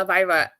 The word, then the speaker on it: Elvira: Elvira.